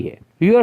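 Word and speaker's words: heir: Sound beginning में आती है। Your son इज एन हेयर to your property. A pronounce करते हुए H साउंड नहीं पढ़ा जा रहा, वो साइलेंट है, तो हम A की बजाय N इस्तेमाल कर रहे हैं.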